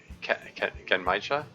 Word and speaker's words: genmaicha: Gen rhymes with Ken? Oh. Genmaicha?